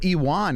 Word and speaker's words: Ion: right now Moldova kutilaba so iwan is how you say his first name E1 kutilaba go all